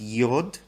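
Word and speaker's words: йод: So with these, they just drop the "ine". So fluorine, well, actually fluorine's a bit different. Fluorine's Ftor. Chlorine becomes chlor. Bromine becomes brom. Iodine becomes yod.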